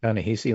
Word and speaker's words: Ta-Nehisi: Ta-Nehisi, like in Tallahassee. That's what he says when you pronounce it.